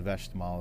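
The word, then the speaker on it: Westmalle: And to the right of the trapeze rovers are the west malls or the vest mall as they call them sometimes in Europe pronounced but really uh probably one of the most uh well-known of the Belgian ales.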